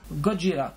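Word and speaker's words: ゴジラ: Godra qui est la vraie prononciation en fait.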